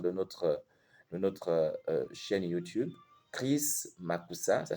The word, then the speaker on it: Mackoussa: Chris Makusa, ça s'écrit donc C-H-R-I-S, Makusa M-A-C-K-O-U-2-S-A.